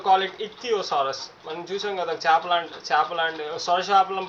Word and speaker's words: Ichthyosaurus: Stress on the fourth syllable ick. Theosaurus. Sorry about the glitch. ఇథియోసారస్. Ichthyosaurus. సో you have to call it ఇథియోసారస్.